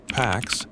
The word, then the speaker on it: P4X: The name pronounced PAX, the Latin word for peace, was an ironic gesture